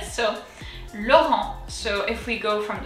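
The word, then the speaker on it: Laurent: from deep down and the t is silent as you saw i didn't pronounce it so lauren so if we go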